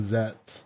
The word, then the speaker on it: Zeztz: Now realizing that there's 3 Z's in Zeztz, even though you don't pronounce the middle.